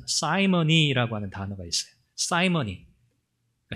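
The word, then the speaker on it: simony: 그래서 이 시몬, 영어로는 사이먼이라고 읽거든요. 이 시몬, 성직 매매라고 하는 영어 단어가 있어요. 사이머니라고 하는 단어가 있어요.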